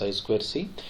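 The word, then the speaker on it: I²C: per serial interface one is I squared C pronounced as I square C why it's called as I squared C because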